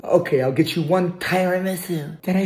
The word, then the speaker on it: tiramisu: it right this time we're gonna get the tyra miso okay i'll get you one tiramisu did i say it right tiramisu separate the